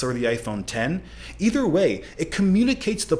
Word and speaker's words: iPhone X: iPhone before and knowing it would likely be mispronounced X but those things were all irrelevant does it really matter if people call it the iPhone X or the iPhone 10 either way it communicates the point that this